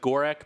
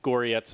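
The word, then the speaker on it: Gorec: It looks like Gorek, but in the Cyrillic, it's pronounced close to Goryetz in my terrible terrible English.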